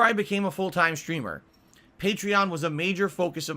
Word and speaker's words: Patreon: P patreon I guess they actually pronounce it patreon even though it makes no sense because patreon is supposed to be a take on patron of the Arts so to pronounce it patreon literally undermines the point but the owners say you pronounce it patreon if